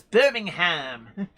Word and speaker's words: Birmingham: Sarah Davis says how Americans pronounce Birmingham is hilarious. No, it's Birmingham.